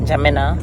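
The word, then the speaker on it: N'Djamena: e is silent yes the N is almost silent yes yes J Jina yes yeah so you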